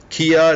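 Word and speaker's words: Quia: Kia, it's spelled Q-U-I-A.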